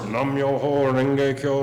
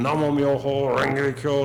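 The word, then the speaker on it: Namu Myōhō Renge Kyō: Nam Myoho, and the one group out of the 37, there was the one that pronounces it Namyo instead of Namo Myo. But in the same way, they'll sit for hours, Nam Myoho Renge Kyo, Nam Myoho Renge Kyo,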